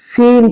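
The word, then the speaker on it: س: আলিফ চার আলিফ এবং এটা উচ্চারিত হবে জানেন জিহ্বার আগা নিচের দুই দাতের পেট আকাশে লাগিয়ে সিন সন শক্ত আওয়াজ দিয়ে শক্ত আওয়াজ দিয়া সাতটা বড় আওয়াজে হবে সাটা কোন আওয়াজ নরম নরম আর সিনটা শক্ত হতে হবে সিন সিন সিন সিন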